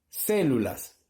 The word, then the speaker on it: células: Entonces busco la mayor fuerza de voz. Células, ya, ahí concuerda, muy bien. No puedo decir células, no suena bien. Células, no suena bien. Entonces, es una palabra esdrújula. ¿Por qué? Porque la mayor fuerza de voz está en la antepenúltima sílaba.